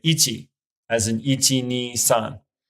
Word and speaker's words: 一: the case of numbers the chinese pronunciation is more often used so if you want to count in japanese you would say ichi as an et me